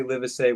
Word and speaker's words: Livesay: When people say it, most people say Livesay. When I talk to him, he says Livesay.